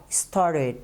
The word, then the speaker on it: started: coloca um ed e a pronúncia dele vai ficar assim, ó, started, started, ok? Traz esse sonzinho diferente, não started, ok? Started, acrescenta só o ed no final.